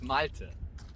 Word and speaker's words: Malte: I have trouble pronouncing it. Malti. Malte. Say it close to the camera. Come here. It's Malte.